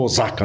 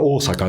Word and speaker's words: Osaka: numa universidade em Osaka aqui no Brasil chama Osaka né mas em japonês Sera Osaka viu a pronuncia é bem diferente tá então eu fiquei